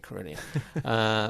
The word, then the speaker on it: Carillion: They were called Tarmac a while back, but they became Carillion, which sounds better. There's always a sign to look for, a trendy name. Well, it rhymes with million and billion.